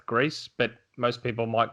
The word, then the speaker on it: Gris: I found out it's pronounced GRIS, but most people might call it GRIS, GRIS.